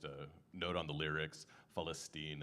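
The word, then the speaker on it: فلسطين: And, uh, just a note on the lyrics, Falstine is how you say Palestine in Arabic.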